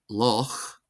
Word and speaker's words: loch: For example, the Gaelic word loch, loch, loch, loch, meaning lake, is pronounced like the German name Bach, Bach, Bach, Bach.